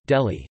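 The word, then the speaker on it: दिल्ली: Delhi, Hindustani pronunciation, Delhi, Delhi, officially the National Capital Territory of Delhi, NCT, is a city and a union territory of India.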